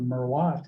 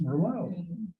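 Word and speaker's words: Merlot: Was it the consumer saying, you know, I'm going to buy Gallow's jug wine Merllo because I can now pronounce it. Instead of Merwatt, it's Merllo.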